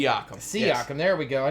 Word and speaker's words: Siakam: Siakam.